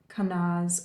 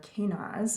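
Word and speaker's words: Kenaz: is the Rune of kanaz or canas I've heard it pronounced both ways um and it is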